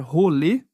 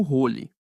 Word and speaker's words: rolê: Outro erro é pronunciar rolê como role. O e no final é um som fechado, como em você.